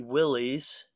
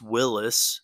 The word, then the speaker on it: Willys: But here is the car, the 33 Willys. Pardon me if it's pronounced Willis. I think it's Willys, but I've heard both, so correct me if you know for sure.